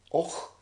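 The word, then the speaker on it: Avoch: Then there is the famous Canadian explorer, Sir Alexander Mackenzie, born in Stornoway, but buried in Och in the Black Isle. That's spelled A-V-O-C-H, by the way.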